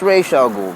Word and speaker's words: Ra's al Ghul: use the Batman Begins Roz al Ghul twist it's properly pronounced racial ghoul because there's a micron over the air when it's written in text I'm a stickler for